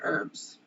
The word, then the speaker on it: herbs: um like herbs where i don't pronounce the h i say herbs i don't know what